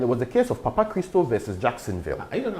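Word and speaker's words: Papachristou: Christo. It's Greek. It sounds like Ghanaian, Papa Christo.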